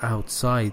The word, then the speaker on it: outside: And you outside, when it is used as an adverb, the stress is on the second syllable, for example, outside the place.